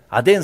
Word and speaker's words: 아덴: 것이 아주 활성화돼 있었습니다 아테네 아덴 스타일 발음을 아 된 성경에 나와 있는 발음으로 통일하겠습니다 아덴 스타일은 질문이 많고